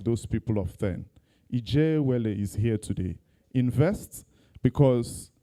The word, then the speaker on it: Ijeawele: MC, we need to teach you how to pronounce our name well. It's Ijeawele. Where is he? Ijeawele.